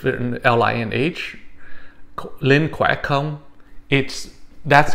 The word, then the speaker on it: khỏe không: So the word it would be pronounced khỏe không. All right. So again, it would be pronounced khỏe không.